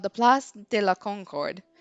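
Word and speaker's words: Concorde: idea what he's even talking about um my pronunciation must have been off it's called the pl de la Concord it's where King Louis the 16th was executed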